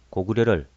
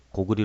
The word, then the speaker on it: 고구려: 안녕하십니까 오늘은 고구려를 고구리 불러야 한다는 일부의 주장에 따라 이곳 채널에서도 댓글로 그처럼 부르라고 말하는 경우가 종종 있어 과연 고구려를 고구리 불러야 옳은 것인지를 살펴보겠습니다 먼저 기록을 읽어 보겠습니다